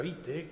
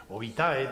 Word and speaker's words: vitae: la historia que les mostraba la historia magistra vite que es como se vitae Mejor dicho que es como se pronunciar que les instruía en lo que debía